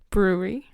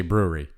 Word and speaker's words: brewery: word yeah you did good so you say brewery so you don't be brewery you don't pronounce the second art you say brewery yeah brewery fruit brewery brewery yeah there's that